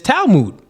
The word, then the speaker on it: Talmud: I think it's Talmud, right?